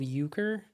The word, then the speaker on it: Euchre: It's called Euchre. It's spelled weird, like this.